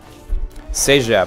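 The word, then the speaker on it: CEGEP: takes 3 to 5 minutes okay I see sep which is spelled I'll spell it in the chat uh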